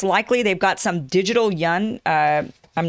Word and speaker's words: yuan: I never say this right, and then you guys get on my case about the, it's not the yen, right? It's the yuan. It's kind of pronounced this way.